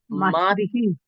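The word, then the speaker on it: मातृः: এখানে কি হয়ে যায়, এখানে রিকার থাকলে হি হয়, একটু খেয়াল করবেন, রিকার থাকলে কি হয়, হি হয়। তাহলে কি উচ্চারণটা হবে এখানে, মাতৃহি মাতৃহি।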